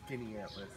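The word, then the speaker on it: Skaneateles: Skinny Atlas.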